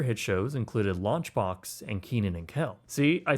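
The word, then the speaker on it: Kenan & Kel: Some other hit shows included Launchbox and Keenan and Kel.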